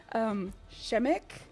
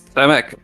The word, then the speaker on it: Przemek: But Shemek, did I get too weak on it and forget how to say it? Will you say it for me again? It's Przemek.